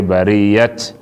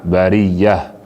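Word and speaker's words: البرية: go pronounce the ta, you know go talk say bariyat, you go talk na bariyah.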